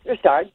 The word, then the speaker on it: Richard: 1960 yeah maurice richard maurice restart but it spelled richard i like one of